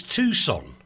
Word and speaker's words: Tucson: It's Tucson.